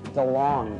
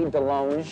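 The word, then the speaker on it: DeLonge: Gary's chicken and ribs I am Tom Del long but it should be Delong cuz I went to France and they said you're pronouncing it wrong I'm all DeLong know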